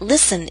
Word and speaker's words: listen: day maybe he'll listen note that listen is one of those words in which we always omit the T sound now if you'd like